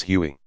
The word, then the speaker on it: Huey: a nickname derived from its designation of who won which came to be pronounced as Huey the reference became so